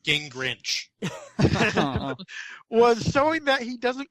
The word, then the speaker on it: Gingrich: a recent speech to a Christian congregation, Newt Gingrich I think it's pronounced Gingrich.